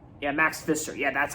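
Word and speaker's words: Max Fischer: year old teenager named Max fetcher like yeah Max Fister yeah that's how you say it so Rushmore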